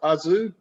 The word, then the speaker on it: aszú: Tokaj, is the word pronounced aszú? Aszú. Is it pronounced aszú? Aszú, yes, aszú. It's also closed A, yes, aszú.